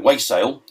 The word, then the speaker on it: wassail: is the Stroud mosa way sale way sale as it's pronounced down there um which I although